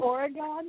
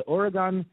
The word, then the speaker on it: Oregon: wedding cake for a you pronounce it origon he did pronounce it origon yes oh origon like origami so if you're you're folding if you're if you're folding paper is it origani yes oh are you one of these pronunciation snobs no I'm with her it's Oregon now let please let Liberty